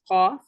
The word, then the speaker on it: ق: And then this letter is pronounced from the deepest part of the tongue and that which lies opposite to it of the soft palate.